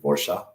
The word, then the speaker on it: Warsaw: hubing community and how Warsaw is doing the same um I know I guess it's pronounced like warshaw um but uh you